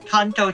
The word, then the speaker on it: Kanto: that don't inhabit the Contour region Kanto chho as it would be pronounced in Japanese as in the conto region cont country something is yeah the kto region just in Japanese the first region